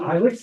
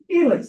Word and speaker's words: Ilex: I's are pronounced E. It's not Ilex, it's Elix.